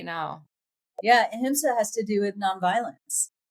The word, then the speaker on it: ahimsa: You talked about the concept of ahimsa.